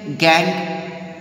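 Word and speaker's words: gangue: एंड one more thing here, गैंग। बेटा आप लोग इसकी जो स्पेलिंग है उस पर मत जाइएगा, प्रोनाउंसिएशन इसका गैंग ही होता है।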